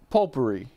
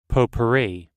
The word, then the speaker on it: potpourri: Like, why the hell is there a T when you pronounce it pole?